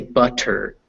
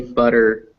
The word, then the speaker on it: butter: In English, we definitely don't say butter or bitter or better. We say butter, bitter, better.